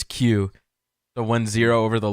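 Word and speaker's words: 九: chance yeah crimbo the the Japanese pronunciation pronunciation of nine is Q so when zero over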